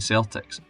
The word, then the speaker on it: Celtic: Walfrid wanted the name to be spoken as Celtic, which did not happen. An 1892 newspaper article also said this was the way that Davitt pronounced the name, although again it was